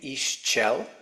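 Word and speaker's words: Ixchel: a feminine uh goddess named Isel which is spelled iix and then c h e l Isel um and they said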